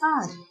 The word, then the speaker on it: hour: अब यहाँ पर देखो मैंने बोला एन आर में एच जो है वो साइलेंट है, और ये पीछे अभी हमने पढ़ा था कि अगर एच साइलेंट हो, बट नो डाउट जब हम उसको लिख रहे हैं, लिखते समय हम लोग एच यूज़ कर रहे हैं, पर जब हम उसको प्रोनाउंस कर रहे हैं, उसकी प्रोनाउंसिएशन कर रहे हैं, तो एच क्या है हमारा, साइलेंट है।